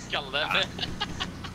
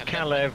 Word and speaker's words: Kalev: I assume that you're saying my name because you're pronouncing it wrong. Oh. Kleb? Still what? Kalev. It's Kalev and.